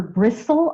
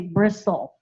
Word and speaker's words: bristle: come back final l the silent St for bristle I don't say brist I just say bristle so you're going to